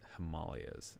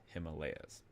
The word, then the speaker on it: Himalayas: Fun fact: in Nepal they actually pronounce this Himalayas, not Himalayas.